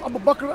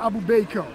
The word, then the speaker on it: Abu Bakr: And he would pronounce Abu Bakr Abu Baker. Things like Abu Baker, right?